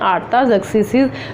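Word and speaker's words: Artaxerxes: जी, इनको प्रोनाउंस करते हैं ज़रक्सीज़ एंड आर्ताज़र्क्सीज़, जो लीडर्स थे आए और जाते रहे कि इनके एम्पायर में, इनके दौर में।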